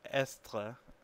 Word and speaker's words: est: So we have je suis, tu es, il est, nous sommes, vous êtes, and ils sont. And you can even see in the third person singular, which is spelled EST, that S is not pronounced, even though it was